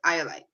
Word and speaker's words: Eye-Olite: So that's how I spelled it, Eye-Olite.